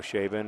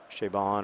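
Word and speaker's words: Chabon: and Clay by Michael shabin or shabon or however you say it he always says it rhymes with raidon but I don't actually find that very helpful um shabon I guess rhymes with ridon anyway um that book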